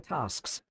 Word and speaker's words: tasks: any of the following tasks. That is a house point bonus if you excel at any of the following tasks. Tasks with that long a sound. We we heard in other words like enchanted or I don't know